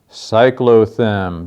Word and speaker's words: cyclothem: actually contain coal and that is the word cyclo them don't-don't-don't done I actually have a part of